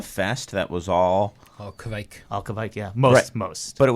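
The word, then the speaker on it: kveik: Kvike, right? Like, Rhymes with bike.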